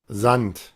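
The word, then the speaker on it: Sand: Zant, porque noten que en el inglés suena con la D literal, pero en el dotch se cambia por t y con ese vibrante.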